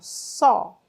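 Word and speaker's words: saw: Só, só, só é a pronúncia dele.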